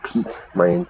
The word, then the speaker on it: pique: Yeah, to pique pique is the pronunciation, like the peak of a mountain.